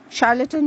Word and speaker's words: charlatan: charade then we have the word charlatan c-h-a-r-l-a-t-a-n charlotten means an imposter or a trickster one who